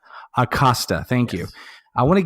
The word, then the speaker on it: Acosta: gym and forgive me has his last name pronounced Acosta thank you I want to get into that